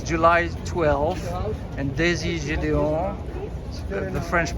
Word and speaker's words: Gedeon: we're in cannes it's july 12th and daisy julion the french pronunciation australian born in lebanese is introducing at